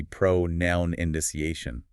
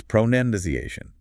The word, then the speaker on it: pronunciation: The verb is pronounce, so people logically think the noun must be pronoun indiciation. But it's not. It's not. The stress shifts. It's pronundiciation. There's no noun sound in it at all.